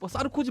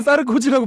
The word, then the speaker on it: 사르코지: 그 와이프도 그렇고 알겠어 너는 코지 하지 마 자꾸 쌀 거 같은 느낌이 들어 너는 싸르 고지라고 발음하지 마 알 습니다 자 그러면